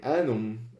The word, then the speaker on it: annum: However, in annum, A-N-N-U-M, there are 2 consonants between the vowels. That makes the A short and the U short.